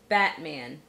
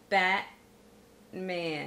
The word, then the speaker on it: Batman: a true T, is when a T ends a syllable and the next syllable begins with a consonant and is unstressed. So for instance, partner, partner, settler, settler, Batman, Batman, stuntman, stuntman.